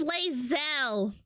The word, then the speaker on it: Lae'zel: If you ever want a VTuber anime girl to pronounce things for you, I will do it for free. It's Lae'zel.